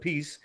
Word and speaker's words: Appice: He was the vocalist, and Carmine Appice, he pronounces it Appice, was the drummer, and